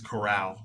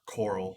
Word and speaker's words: Corral: I think that see Kai is saying it's Corral, not Coral. We're saying it wrong. Sorry. So Sorry. Matt Matt Corral.